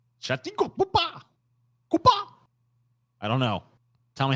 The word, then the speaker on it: Chhattisgarh: Chhattisgarh. That's so wrong. Chhattisgarh. I don't know. Tell me how to say it, Paul. You say it for me. Chhattisgarh.